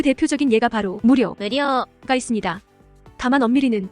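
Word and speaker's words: 無料: 그 대표적인 예가 바로 무료가 無料、 있습니다. 다만 엄밀히는 料、 가장은인 료로 발음돼서 약간 한국어보다 길게 발음해 주어야 합니다.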